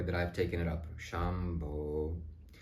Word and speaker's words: Shambho: I've taken it up Shambo because that's how you emanate the sound it's a Bo sound when it's done properly